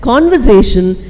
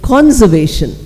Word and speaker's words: conversation: So, instead of pronouncing a word like conversation, they kept saying conservation. That's a common word.